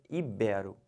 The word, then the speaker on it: ibero: libera e não libero-americano o erro comum o pessoal fala muito é chamar isso aqui de proparox e falar ídolo híbrido tá errado o certo é ibero finalizando essa palavra aqui